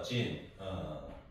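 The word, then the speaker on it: 人: 이게 이제 사람 인자예요, 진. 그래서 중국인, 중국인, 그 사람 인자를 진으로 이제 발음하는 거죠.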